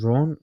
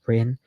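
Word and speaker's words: Rennes: Plays for Ren or Ron Ren. Ren, I think it's pronounced Ren in France.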